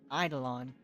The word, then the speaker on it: eidolon: Also, getting characters will always be better than your idolin. Than your idol. How do you say it? Idolin? Eidolon if you're F2P.